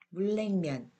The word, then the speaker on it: 물냉면: 어떻게 발음되는지 같이 읽어보겠습니다. 편리, 편리해요. 연락, 연락하세요. 물냉면, 물냉면이 맛있어요.